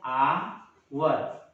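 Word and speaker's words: hour: हो जाता है, क्योंकि इसका प्रोनाउंसिएशन आ होता है, आ आपका वॉवेल साउंड होता है, इसलिए इसके पहले क्या लगेगा, एन लगेगा।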